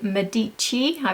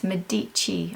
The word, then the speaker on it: Medich: got a feeling the medich everyone's told me how to pronounce that now it's not Med medy or medic it's medich I believe so I